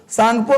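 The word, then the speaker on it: Tsangpo: इसका नाम है सांगपो सांगपो में टी साइलेंट होता है जिसे सुनामी में टी नहीं बोलते वसे सांगपो में टी लिखते हैं लेन टी का उच्चारण नहीं करते तो सांग तिब्बत में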